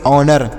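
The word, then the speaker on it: honour: देखते हैं क्या है एच ओ एन ओ यू आर तो इसे क्या पढ़ेंगे एच यहां पर साइलेंट है तो इसे पढ़ेंगे ओ ओ से अ पढ़ेंगे एन ओ नौ पढ़ेंगे आर से र तो इसे पढ़ेंगे ओनर एन ओ यू से पढ़ेंगे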